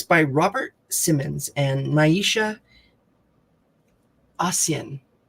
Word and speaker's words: Ahsian: It's by Robert Simmons and Naisha Asian. It's spelled Ahsian.